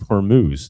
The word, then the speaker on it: Hormuz: That's how you Straight of Hormuz.